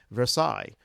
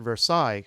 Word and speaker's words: Versailles: There are a lot of cities in Kentucky named after European cities: Paris, London, Versailles. But if you pronounce it Versailles, nobody knows what you're talking about.